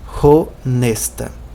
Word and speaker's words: honesta: Atenção que a escrita é praticamente a mesma, mas a pronúncia é diferente, porque em Esperanto não existe letra muda. Então o H é pronunciado honesta.